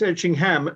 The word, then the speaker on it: Etchingham: the um oddly enough you should pronounce itching ham like like Americans would like Birmingham Alabama oh a strong ham